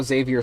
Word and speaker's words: Xavier: And yes, that is how Xavier sounds in Xavier Renegade Angel. Also, that's Xavier spelled X A V I E R. The the X is pronounced like a Xylophone.